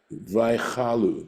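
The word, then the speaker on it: ויכלו: Vaychalu, that's how it's pronounced, right?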